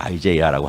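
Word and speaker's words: Isaiah: 이 작가가 이사야 그러니까 영어로 굳이 좀 유식하게 발음을 하면 아이제이아스 도터 이렇게 합니다. 이사야라고 발음 안 해요. 아이제이아라고 하더라고요.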